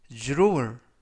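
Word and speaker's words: drawer: 뜻이 되겠습니다 이번 표현은 주로 울 주 룰 주로 을 이라고 발음 하시면 되겠구요 이 때 유의하실 점은 dr 발음이 주르 쭉 그래서 줄어 올 이라고 발음 하시면 되겠습니다 품사는 명사 뜻은 서랍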